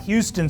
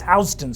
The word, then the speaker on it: Houston: If you're in New York, it's not Houston Street, it's Houston Street.